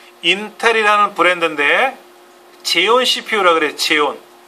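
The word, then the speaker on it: Xeon: 제온 XON XON 제온이라고 읽어요.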